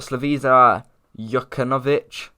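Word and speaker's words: Slaviša Jokanović: of a loss for them uh they've got slavisa yuckanovich so that's how you say his name as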